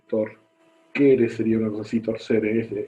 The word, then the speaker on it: torquere: Torque del latín torquere, latín torquere sería una cosa así, torcere, esto se pronuncia como una K, que significa torcer.